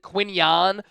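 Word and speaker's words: Quinyon: the quinan Mitchell impact he actually technically pronoun uh pronounces it quinan so I guess we have to make that switch show the defense at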